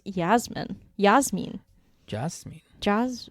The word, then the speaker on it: Jasmine: fur okay so Jasmine it should actually be pronounced Yasmin Yas mean just me jaws or no you're